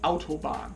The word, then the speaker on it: Autobahn: And you pretty much pronounce it Autobahn if you really want to say German.